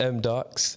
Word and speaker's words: MDAHS: So it's pronounced M-Darks.